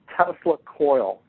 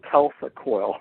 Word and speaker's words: Tesla coil: to 70 I came across a term called Tesla coil and of course I pronounced it telecoil I had no idea what itself a coil